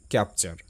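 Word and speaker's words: capture: সো টি ইউ আরই এর উচ্চারণ হবে চার।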